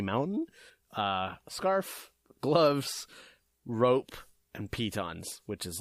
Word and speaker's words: piton: know they're not pronounced Titans how are they pronounced Pete on both of my brothers are into climbing and yeah I mentioned a peyten once in front of my little brother he's